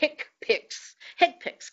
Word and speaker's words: HCPCS: the HCPCS Common Procedure Coding System, and we pronounce it in the inelegant way, HCPCS code.